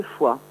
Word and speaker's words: Foix: Voilà, donc en fait j'ai fait un jeu de mots avec la ville de Foix aussi. Donc oui. La foi des artistes s'écrit F-O-I-X.